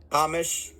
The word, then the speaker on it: Hamish: Is it Hamish? Hamish. Hamish. Sounds like hummus.